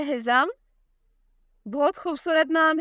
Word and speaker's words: Hizam: अगला नाम है हिज़म। बहुत खूबसूरत नाम है।